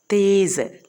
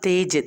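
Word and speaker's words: तेज़: അതിൻ്റെ അടിയിൽ ആ ഡോട്ട് ഇടുമ്പോൾ അതിൻ്റെ തീർത്ഥം ഉച്ചാരണം മാറുന്നുണ്ട്. സ. തേസ്, നോട്ട് തേജ്. തേജ് എന്നല്ല വായിക്കുന്നത്, തേസ് മീൻസ് വെരി ഫാസ്റ്റ്.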